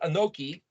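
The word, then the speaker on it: אנכי: to exist i am is either anki sometimes pronounced anoki or it's or it's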